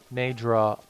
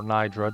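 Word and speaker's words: Naydra: means of ensuring that Nadra or Naidra, depending on which pronunciation you go for, can come back to itself and become the dragon of ice once more in a healthy manner.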